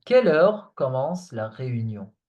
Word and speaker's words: heure: Remember that EU in French is pronounced E. E, heure. Okay? So, à quelle heure commence la réunion?